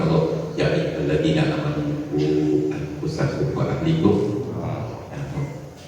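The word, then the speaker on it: أنفسكم: Maka kita teringatkan firman Allah, ya ayyuhalladzina amanu qu anfusakum wa ahlikum. Jangan salah bacanya, ya ayyuhalladzina amanu anfusikum, ya ayyuhalladzina amanu qu anfusakum wa ahlikum.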